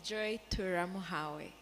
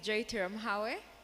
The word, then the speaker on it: Joy Turamuhawe: My name is Joy Turamuhawe. That's the correct pronunciation of the name. My name is Joy Turamuhawe.